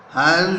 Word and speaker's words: Hans: Hans Wolf said, on both sides Hans Wolf said, Hans Wolf ने कहा, Hans Wolf said, Hans Wolf ने कहा, HANS में S का प्रोनाउंसिएशन Z होगा।